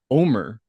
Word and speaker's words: Omar: Although I think he pronounces it Omer. It's not Really? Omar, it's Omer.